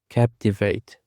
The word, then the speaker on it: captivate: Captivate. Captivate. The stress is on the first syllable.